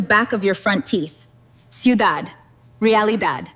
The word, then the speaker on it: ciudad: To make it Spanish, we delete the ty and we substitute it with dad, pronounced exactly like dah. So, city becomes ciudad.